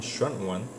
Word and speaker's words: 軒轅: 헌원, 지금 중국어 발음으로는 션원, 션원, 그죠?